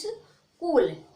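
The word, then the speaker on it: school: उसको चा बोलते हैं, तो इसको यहाँ पे चा नहीं बोलना है, क्या बोलना है, यहाँ पे हाँ को साइलेंट रखना है, क्योंकि मैंने नियम सीख रखा है अभी। तो यहाँ पे जो यच है वो साइलेंट रहने में, तो इसको पढ़ोगे इस स्कूल, स्कूल जहाँ पर हम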